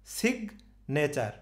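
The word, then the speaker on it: signature: গেছে স্ট্রেসটা কিন্তু এই জির উপরে পড়ে গেছে সিগ নেচার সিগ নেচার এই এটার উচ্চারণ হবে এই আমি উচ্চারণ নিয়ে বারবার বলছি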